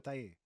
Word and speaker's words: Taye: I am Taye Diggs. Who? Taye Diggs. Wait, who? Taye Diggs. That's not how you say it. It's Tay.